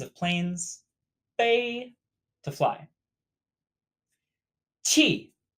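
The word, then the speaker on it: 气: planes they to fly chi chi pronounced a lot like 7 with a falling tone this character means air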